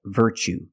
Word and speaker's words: virtue: word what's the pronunciation you see Tue as the second syllable so the t is pronounced CH like chicken so what's the pronunciation that's right virtue what is a virtue